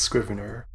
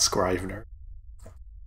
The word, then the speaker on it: Scrivener: was pronouncing it wrong so it's Scrivener all birds eyes you don't know how they're pronounced because I never actually heard them pronounce I just yes Scrivener not scribe her a funny thing is